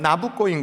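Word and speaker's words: Nabucco: 느부갓네살 느부갓네살 니콜라보 거예요 느부갓네살을 이탈리아식 발음을 하면 나부꼬인 거예요 마지막에 뭐라고 부르냐면 하프가 어찌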